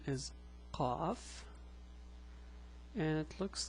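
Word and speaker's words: قَ: Now, the pronunciation is a bit hard. It's qa, not ka, it's qa.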